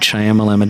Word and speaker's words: Shyamalan: Shyamalan. No, it's M. Night Shyamalan.